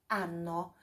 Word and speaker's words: anno: Olha só, tem dois N's, então a pronúncia é um pouquinho mais puxadinha nesse N. É anno. Da che anno vive in Italia?